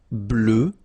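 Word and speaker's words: bleue: form GRE blue blue so same thing that we had for Noir you just add this at the end but then you don't pronounce it blue blue all right so let's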